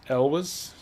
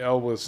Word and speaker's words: Elwes: I still to this day don't know how to pronounce his name. Cary Elwes. Elwes.